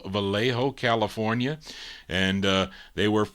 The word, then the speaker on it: Vallejo: group they're out of uh I don't I pronounce this read is it valo v a l l a ho o Vallejo California and uh they were they were first